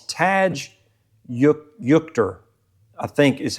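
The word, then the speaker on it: Tadge Juechter: It's Taj Yukter, I think is how you say it.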